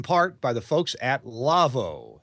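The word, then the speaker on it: Lawo: Our show is brought to you in part by the folks at Lavo, L-A-W-O, pronounced Lavo.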